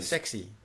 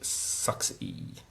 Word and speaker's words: Mazda 6e: you've been driving one, the Mazda Sexy. I believe it's pronounced Suxy. Oh, is it? Sorry, that's the New Zealand pronunciation.